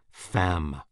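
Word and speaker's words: femme: Comer is a wretch fam woman rhymes with infam Infamous yes I have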